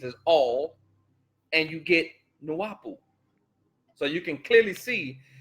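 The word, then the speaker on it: Nuwaubu: of the new bowl all which ties into nuapu it says nawapu is pronounced nuapu the meaning of the word nuapu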